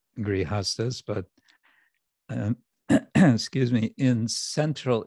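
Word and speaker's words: grihastha: being a grihasta, and the word is grihasta, not grihastra. La primera pregunta con respecto a ser grihastra y no se dice grihastra, sino grihasta. Sta means position, standing, and griha means house.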